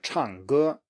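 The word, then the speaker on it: 唱歌: So example here is 唱歌, 唱歌, to sing, 唱歌.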